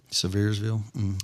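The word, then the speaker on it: Sevierville: Uh, I meant to tell you this weekend in just outside of Severeville. Is that how you say it? Severville.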